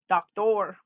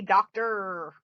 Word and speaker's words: doctor: hear you say dr you pronounce that o at the end doctor but we don't we say doctor er teacher all those ones